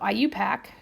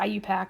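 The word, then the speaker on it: IUPAC: how to say this I say it really could IU pack and people my god what is she saying but phonetically I you pack his eye and then you and then pack right and all I'm doing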